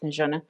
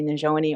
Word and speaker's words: Najona: It's actually pronounced Najona, but it's really easier for everyone to say Najoni or Joni.